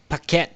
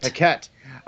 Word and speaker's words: Paquette: Yeah, Paquette. Paquette.